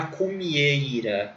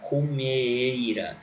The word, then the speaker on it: cumieira: hoje, que é a cumieira. Cumieira. Se escreve comeira, mas se fala cumieira.